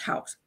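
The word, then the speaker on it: Houk: that of Mr house I think that's pronounced house h-o-u-k-s out it's the people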